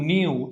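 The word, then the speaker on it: ν: এটা কেমন উচ্চারণ, NEU, নিউ, ঠিক আছে, এটা নিউ উচ্চারণ, ঠিক আছে।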